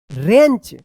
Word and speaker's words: wrench: WATCH, watch, यहां पे जो है ना T साइलेंट है, watch, and another, ANOTHER, another boy used a wrench, WRENCH, wrench, to repair a broken bicycle, BICYCLE, bicycle।